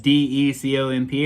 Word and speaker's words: Decomp: Now, is that DECOMP or is that DCOMP? It's DECOMP.